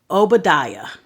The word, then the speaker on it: Obadiah: oos the next book of the Bible is Obadiah it's o b a d i a a